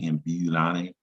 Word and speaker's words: ambulare: There's the U that says you, ambulare, meaning to walk.